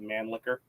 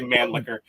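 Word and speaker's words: Mannlicher: I always just say man liquor. No, that's literally how most Americans and English-speaking people pronounce it because it's easier.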